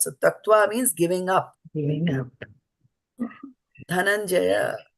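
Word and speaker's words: धनंजय: Dhanam-jaya, dhanam-jaya. When you pronounce it, comes dhanam-jaya.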